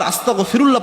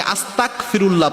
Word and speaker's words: আস্তাগফিরুল্লাহ: ইস্তেগফার আস্তাগফিরুল্লাহ পড়ার সময় অনেকে আস্তাগফিরুল্লাহ পড়েন। ক উচ্চারণ করেন। তাহলে অর্থ হয়ে যায়। আল্লাহ রাব্বুল আলামীনের উপর আমি কুফরি করলাম। আল্লাহর কাছে মাফ চাওয়া তো দূরের কথা।